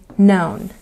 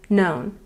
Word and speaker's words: known: No new known. No new known. And be careful here. We've got the letter K, but it's silent. Do not pronounce the K in any of these forms.